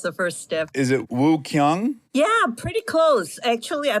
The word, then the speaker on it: Woo-Kyoung: the English spelling but W is silent so it's just oh I like it and then yes Boom did it